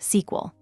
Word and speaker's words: SQL: Databases are queried in a language called structured query language SQL usually pronounced SQL.